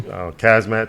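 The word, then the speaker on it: Khamzat: Kazmat Chimaev.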